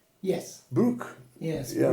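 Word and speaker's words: Brugg: And is it pronounced Brook? Yes. Brook. Yes, Yeah. Brook.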